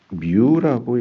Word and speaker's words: μ: 투자율은 뮤라고 읽습니다. 뮤. 음. 어, 마이크로하고도 거의 비슷하게 생겼는데 뮤라고 읽고요. 음.